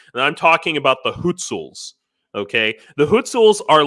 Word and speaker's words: Hutsul: And I'm talking about the Hutsuls. Okay, the Hutsuls are like as Ukrainian as Ukrainians can get. Arguably, or sometimes it's pronounced Gutsuls.